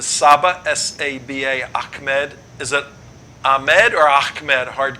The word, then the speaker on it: Ahmed: name is saba sa ba Achmed is it a med or Achmed hard k how do you pronounce it up frozen Achmed with a hard K we use froze up